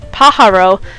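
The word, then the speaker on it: pájaro: and paharo fun fact paharo but spelled with a a j in the middle instead of an H is the Spanish word for bird so it's just called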